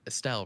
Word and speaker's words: Estelle: Is Estelle, right?